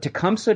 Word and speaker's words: Tecumseh: Properly pronounced, to the best of my knowledge, in the indigenous language of Shawnee, it's Tecumseh. Hopefully I did that okay. I'll probably revert back to my whatever Anglo pronunciation, since it's just more comfortable coming off of my tongue.